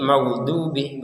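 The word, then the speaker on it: المغضوب: Huruf dod ini magdubih itu bukan seperti huruf dal. Kalau dal itu di ujung lidah. Kalau d ini di sisi kanan atau sisi kiri atau dua-duanya itu menyentuh kepada gigi atas.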